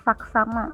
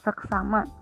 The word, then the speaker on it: saksama: Asas, azas, andal, handal, kualitas, kualitas, saksama, seksama ya. Yang benar saksama bukan seksama.